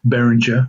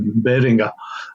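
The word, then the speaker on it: Behringer: it and they proun pronounce it Beringer which shits me um not German but I'm pretty sure it be something more like Beringer um um these these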